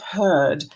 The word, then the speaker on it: herd: Beware of herd, a dreadful word, or beware of herd, a dreadful word that looks like beard and sounds like bird.